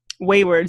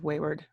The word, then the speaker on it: Waywyrd: Okay, so Waywyrd.